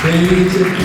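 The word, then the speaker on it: Plemić: lì, e poi abbiamo Milenko Plemic, si pronuncia così, Plemic, libero professionista da Vicenza.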